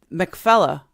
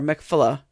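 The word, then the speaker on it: Machpelah: So the grave Mcfella or Mikfella depending on how who pronounces it is actually in the city in the modern city of Heburn.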